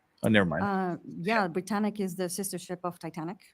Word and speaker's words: Britannic: that uh you had mentioned and I made mispronouncing the was dive branic branic I apologize can you tell me a little bit more about that I never mind uh yeah Britannic is the sistership of Titanic uh it's third